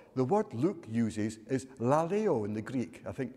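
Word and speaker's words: λαλέω: word luke uses is la leo in the greek i think i'm not no idea if that's the way to pronounce it but it's spelt l-a-l-e-o laleo i think which means chatting talking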